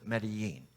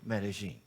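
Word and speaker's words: Medellín: over 4 million people some people pronounce it medine but people from that area of Colombia pronounce it medine her mother would not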